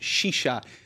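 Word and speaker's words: σίσα: They're pointing out that, you can see here, la sisa, pronounced shisha, the drug of the crisis, which is ravaging the streets of Athens.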